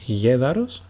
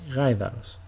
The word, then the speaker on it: γαϊδαρος: Instead of saying γέδαρος, you say γαϊδαρος.